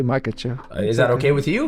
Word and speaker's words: Makhachev: How do you pronounce? I want to make sure I say your last name right. Makhachev. Makhachev.